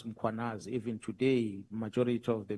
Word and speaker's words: Mkhwanazi: them to pronounce muanaz, they will put an a after m. They will say muanazi and there's no. Mkh.